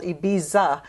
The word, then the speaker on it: Ibiza: ibiza spain it's called ibiza but they they don't pronounce the z in spain they pronounce it like a th so it's betha spain